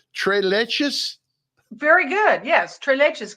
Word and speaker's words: tres leches: Tres leches?